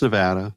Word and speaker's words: Nevada: it Nevada Neva Nevada no it's NE it's Nevada I've been saying it right yeah no it's only people from the East Coast to call it uh Nevada and no one calls it Nevada no uh well they